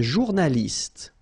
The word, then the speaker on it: journaliste: Un journaliste. Same thing here. You know, final only gives you the t.